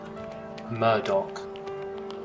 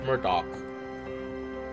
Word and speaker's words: Murdoch: Murdoch pronunciation, Scots. Oh wait. Wait, play it. How do I play it? Murdoch. A Murdoch. Murder. It's Murdoch.